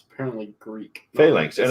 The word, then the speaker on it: phalanx: Phalanx. And It's actually, not it looks, Roman. Tacoma, it looks like you pronounce it better than we do. I had it right. Lanx, not links.